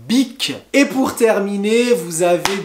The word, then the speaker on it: Bic: fameuse marque les stylos bic bic b et c alors cette marque fait des stylos mais aussi des briquets pour faire du feu ou des rasoirs pour se raser donc big et pour terminer vous